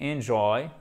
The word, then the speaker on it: enjoy: end riche en calories enjoy j'aurais fait bien attention vous avez l'accent tonique sur la seconde syllables avec un i cours